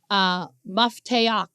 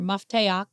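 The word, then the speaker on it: מפתח: Now this word key is this Hebrew word, mafteach is how you say it in Hebrew, mafteach.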